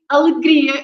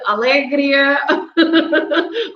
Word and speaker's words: alegria: that's that's why um and you didn't kept the rhyme because you were not reading alegria you you said alegria or something like that so basically the words ending in i a for example you have pastry shop how do you say a pastry show so you stress at the end right and then a bakery and i could go on and on so all these words are stressed at the final i